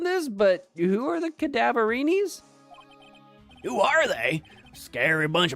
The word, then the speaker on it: Cadaverini: Well, it's a play on the word cadaver, which is a dead body.